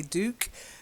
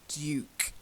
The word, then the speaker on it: Duke: now the first one I'm sure Americans say Duke but as it's a British on an honorary title then I'll give you the British pronunciation it's Duke a Duke lady and